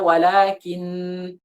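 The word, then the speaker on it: ولكن: Misalnya walakin, kita nggak perlu kita baca walakin, nggak perlu. Tidak perlu kita tekan.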